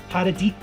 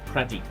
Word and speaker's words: Pradeep: And next up will be Paradeep. Is that how you say it? Pradeep. Pradeep. Sorry, it sounds a bit